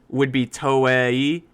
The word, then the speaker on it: Toei: Toei. Be like Toei. Toei animation company. Yeah. It's interesting because the way Toei would be Toei, and then so T-O-E would be Toe-e, and then Toei.